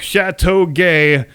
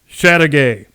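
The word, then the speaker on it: Châteauguay: October 1813 and yes if you pronounced it in the technically correct original French manner it would sound more like Chateau gay which I think is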